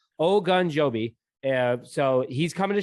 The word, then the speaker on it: Ogunjobi: knows my pronunciation issues i literally like wrote it out like we're all good oh gun joby yeah so he's coming